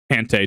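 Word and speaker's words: Hantei: emperor, because the emperor, Hantai the 38th, was poisoned and dying. Poisoned. Hante, technically. It's the EI versus IA, or AI.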